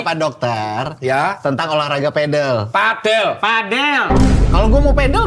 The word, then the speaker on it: padel: Terus olahraga pedel. Padel bacanya bukan padel.